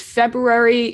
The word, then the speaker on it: February: i mean yes but you don't say that first r february when you say